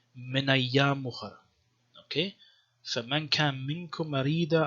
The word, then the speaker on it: مِنْ أَيَّامٍ أُخَرَ: And also, it seems like there was no hamza, so you wouldn't say min ayyam ukhar, but more like connected. Pronounce it more flowingly, min ayyam ukhar.